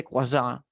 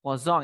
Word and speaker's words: croissant: You say croissant? Yeah, it's okay. It doesn't matter. But you know that we say croissant. croissant, croissant, Croissant. It's like difficult to pronounce because we don't have this phonetic symbol in English, but it's croissant.